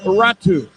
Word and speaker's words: Räty: Tell me about Räty because it's spelled r a t y and I know it's I know I know it is pronounced Räty but what is the official explanation?